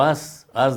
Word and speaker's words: aes: Erario, la palabra erario, procede del latín aerarius, que significa monedas de cobre, por la raíz aes, o as digamos ya pronunciado así.